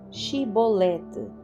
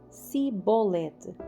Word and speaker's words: Xibolete: Perguntavam: Se o homem negasse, eles o mandavam dizer: "Xibolete". Se ele era de Efraim, dizia Sibolete. Pois o povo de Efraim não consegue pronunciar essa palavra corretamente.